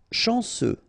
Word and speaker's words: chanceux: Chanceux, final X not pronounced, this CEU, ce, chanceux, chanceux.